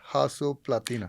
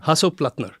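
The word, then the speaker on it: Hasso Plattner: No, I I want to know about uh so how do I pronounce this? Hasso Platina. Hasso Platner.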